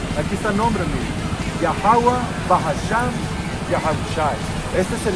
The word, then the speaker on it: Yahweh: nombre del Padre, Yah, que se tiene que pronunciar, Yahweh, Yahweh, con H al final, Yahweh, es el nombre del Padre, ese es el nombre del Hijo, Yahweh Shai, el Salvador.